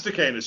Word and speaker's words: Stakenas: I should ask how to pronounce it. I say, is it Stakenas? It is Stakenas.